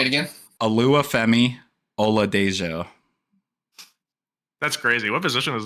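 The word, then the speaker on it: Oluwafemi Oladejo: Alua Femi Ola Dejo.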